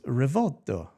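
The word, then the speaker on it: Rivolto: So I said it wrong. It's Rivalto.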